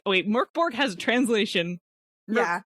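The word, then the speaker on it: Mörk Borg: said about because i was like oh wait murkborg has a translation yeah it's murkberg boar merk borg because the mor with the umlaut is pronounced like the myrrh and murder according to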